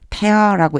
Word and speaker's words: tear: He shall tear it open tear가라고 읽으면 눈물이라고 하는 뜻도 있어요. 그런데 페어라고 읽어 줘야 되고요.